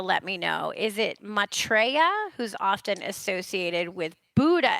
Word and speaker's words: Maitreya: Maitreya? Maitreya is perfect. That's exactly how it's pronounced.